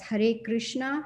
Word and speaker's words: Hare Krishna: And it's pronounced as Hare Krishna, Hare Krishna, Krishna Krishna, Hare Hare, Hare Rama, Hare Rama, Rama Rama, Hare Hare.